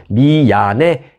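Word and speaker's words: 宮根: 아나운서 미아네 세이지로 밝혀졌습니다 미 미아네 미안해 미안해가 아니고 미아네 있니다 미안해 어 발음이 상당히 비슷하네요네 미안해 해야 돼요 미야네 세이지로 밝혔었습니다 오다니 쇼를 취재하기 위해서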